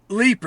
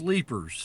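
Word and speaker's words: Leipers: And so, I mean, you were you moved quite young to a place called Le is it Lipers Fork, Tennessee? Leaper. It's pronounced Leapers.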